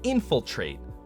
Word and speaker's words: infiltrate: being, like terminate, terminate, infiltrate. But in every single one of these, he puts it at the end.